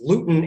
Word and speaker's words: Luton: from london i had to look up the pronunciation but it's luton airport and the airport was closed because the